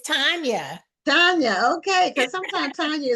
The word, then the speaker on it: Tanya: I want to find out is is it pronounced Tanya or tan it's Tanya Tanya okay cause sometimes Tanya is with an